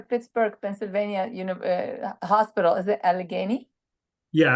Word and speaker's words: Allegheny: Is it Allegheny? Yeah, Allegheny General in Pittsburgh.